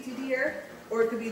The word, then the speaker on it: Didier: Sometimes, you know, in French words, the R is not pronounced at the end. So it could be Didier or it could be Didier.